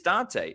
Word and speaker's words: Dante: By the way, the name is Dante. Dante, sorry that I've been mispronouncing your name Appreciate that.